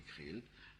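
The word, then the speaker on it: KR2L: Ça s'écrirait K-R-2-L et ça se prononcerait Krill, l'âge du conditionnel, et qui est resté 2 ans aux États-Unis, qui est tombé malade.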